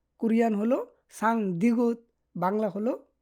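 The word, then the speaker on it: 쌍디귿: এগুলায় Korean উচ্চারণ হয় সাং গিয়ক, সাং দিগুত, সাং বিউপ, সাং সিউত, সাং জিউত।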